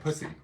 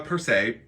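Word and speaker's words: Pusey: Joshua, P-U-S-E-Y, Pussy. Interesting. Per se, we'll say per se. So, hey Rose, so matchbooks were invented in 1892 by Joshua Persay, P-U-S-E-Y, and he created them, the folding.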